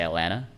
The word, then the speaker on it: Atlanta: That's the only way that you know that I have a southern accent, is that I don't say Atlanta, I just say Atlanta. I don't pronounce any of the T's.